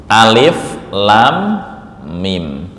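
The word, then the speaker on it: الم: Lam ini panjangnya enam harakat. Enam harakat. Nah. Mim bertemu dengan mim ini namanya idgham. Mimi ditahan 2 sampai 3 ketukan atau harakat.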